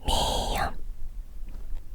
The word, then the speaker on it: 미음: lặp lại lần nữa 기역 니은 디귿 리을 미음 비읍 시옷 이응 지읒 치읓 키읔 티읕